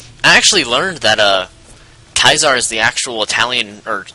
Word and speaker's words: Caesar: actually learned that uh kaiser is the actual italian or latin way to pronounce uh caesar because they actually have the c as a k sound so for instance instead